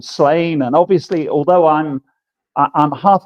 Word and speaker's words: Sláine: It's supposed to be Sláine. Sláine. It's pronounced Sláine."